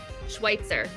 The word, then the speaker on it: Schweitzer: how do you pronounce what's the right way to pronounce your last name Schweitzer okay I just wanted